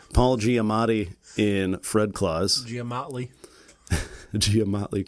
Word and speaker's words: Giamatti: Paul Giamatti, and I think I've added an extra syllable. Paul Giamatti in Fred Claus.